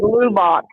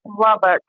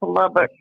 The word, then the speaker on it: Lubbock: Most people say Lubbock, but it's Lubbock. It's not Lubbock, it's Lubbock.